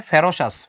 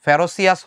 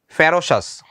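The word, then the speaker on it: ferocious: আমরা লিখি একটু, টাইগার্স আর, এটার উচ্চারণটা হবে ফেরোসাস, ফেরোসিয়াস হবে না, ফেরোসাস।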